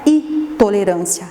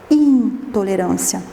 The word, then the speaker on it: intolerância: verdade são de outra intolerância a lactose não é itolerancia é intolerância e vocês fizeram uma